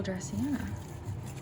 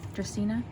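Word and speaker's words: Dracaena: it is a jade jewel dressiana dracina that's how you say it and then i think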